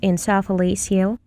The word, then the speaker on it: encephalocele: An encephalocele, pronounced encephalocele, is a birth defect that affects the brain.